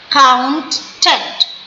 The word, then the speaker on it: accountant: आप अपनी jaw line को स्लो स्लो करके बोलिए, हाथ रख के, तो accident, accountant, account, इसमें दोनों सी का आवाज क ही है, accountant, accountant, admission, admission, ये दोनों एस एक ही बार में आएंगे, they are together, admission, admission, admission, admission.